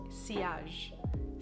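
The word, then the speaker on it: sillage: such great uh the word for that is siage which is it's spelled silage but i learned that it's pronounced siage it's a french word anyway which means that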